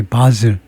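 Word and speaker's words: Basel: JJ from Austria after winning the Eurovision Song Contest in 바셀, 이거 스위스랜드 바셀이라고 발음합니까? 이게 바zel 정도일 겁니다. 그쪽에서 발음이 바zel.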